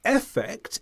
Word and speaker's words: effect: It's important to point out, though, because of the rules of English where we weaken vowels that are not the stressed syllable, this means that effect, if said quickly, can sound just like affect when it's spoken.